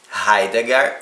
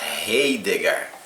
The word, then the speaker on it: Heidegger: filósofo muito importante o martin raigarh ou heidegger aí você escolhe a maneira como você vai pronunciar o nome dele ele é alemão nasceu